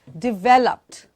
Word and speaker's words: developed: The next one is developed. Developed. Again, there's a d in the beginning, the d in the end.